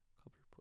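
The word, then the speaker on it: Cobblepot: Cobbleput.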